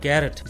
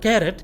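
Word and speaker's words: carrot: अगला कैरेट, इसे भी ज्यादातर लोग गलत बोलते हैं कैरेट, जबकि इसका सही प्रोनाउंसिएशन है कारट, कारट।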